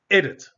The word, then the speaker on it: edit: word is pronounced as edit you see the the second syllable is not stressed so when we put